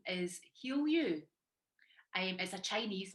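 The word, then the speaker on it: Hiuyu: now the thing is my chinese name is spelled h-i-u-y-u so that's why people can't usually pronounce it when they see it but you pronounce it heal you which is ironic and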